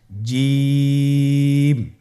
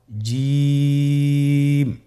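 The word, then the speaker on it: ج: আপনারা আমার সাথে করুন জিম মাশআাল্লাহ আবার বলুন জিম আপনারা চেষ্টা করুন হয়ে যাবে এর মাখরাজ হলো জিহ্বার মধ্যখান তার বরাবর উপরের তালুর সঙ্গে লাগিয়ে উচ্চারিত হয় আপনারা পিকচারে ছবিতে দেখতে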